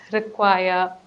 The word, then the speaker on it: require: The next one is stress the last syllable. So in certain words, you can stress the last portion of that word, like require, decide. So when you speak it, make sure you do it correctly.